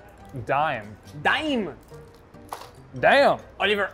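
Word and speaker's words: Daim: some is this chocolate i think it's pronounced dime damn damn oliver ashkev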